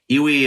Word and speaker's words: EWI: And So what is an iwi? It's actually initials for like iwi electric, like electric wind instrument. So iwi, you actually spell it EWI, which stands for like electric wind instrument.